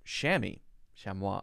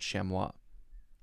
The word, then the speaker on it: chamois: there shammy shammy but this one says chamois so i'm right but i'm also not right shammy i've definitely heard shamwa an agile goat-like antelope